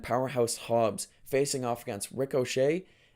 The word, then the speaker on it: Ricochet: The Ops, that's Samoa Joe, Katsuyori Shibata, and Powerhouse Hobbs facing off against Ricochet. I say it like he's an Irish guy named Rick O'Shea.